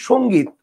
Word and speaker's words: সংগীত: দেখেন আমি যদি বলি সংগীত বানানটা কিন্তু এরকম কিন্তু কেউ যদি সংগীত বানানটা এভাবে লিখে তাহলে তার কিন্তু সেইম উচ্চারণ হচ্ছে ভালো করে বুঝেন আমি কিন্তু একবারও বলি নাই এই বানানটা কারেক্ট।